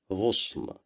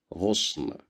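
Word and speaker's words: غصن: Here we have Dhamma at the top of the letter Ghain, so we will pronounce it as Ghu, Ghusn, Ghusn, Ghusn, which means a branch.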